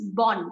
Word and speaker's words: bon: or a bubble bubble so when you start with a bubble the previous words last letter is pronounced it becomes born it is not bone are you okay with